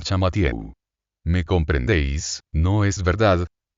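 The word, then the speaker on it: Champmathieu: La pronunciación del país cambia el yin en Chan y se le llama Chan Matiewu. Nuestro hombre adopta esta modificación y el aquí transformado en Chamatieu.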